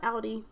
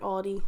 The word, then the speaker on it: Aldi: But I call it Audi. You guys call it Aldi. I say it wrong, I guess.